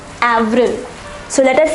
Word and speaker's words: avril: pronounced as Mars once more Mars April is pronounced as Avril Avril so let us say these four months once